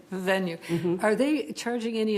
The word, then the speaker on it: Vivenu: Is Vivenue, how's it pronounced? Vivenue. Vivenue.